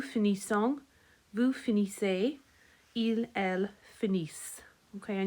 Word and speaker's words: finissent: Nous finissons, vous finissez, il, elle finissent. Okay, and you remember the E and T is never pronounced. So in the last part there, you're just going as far as the S's.